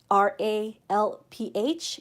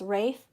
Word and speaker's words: Ralph: be silent and so the l in ralph r-a-l-p-h is silent and so it's actually pronounced rafe not ralph as in